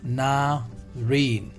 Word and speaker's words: navarin: is the next navarine the pronunciation of this is na rain clear so a brown